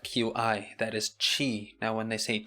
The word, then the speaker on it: qi: It's spelled Qi, that is qi.